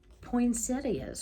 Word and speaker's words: poinsettia: and cards who knew poinsettias or poinsettas is what i call them i it looks like it's it's pronounced poinsettia so however you say it they were not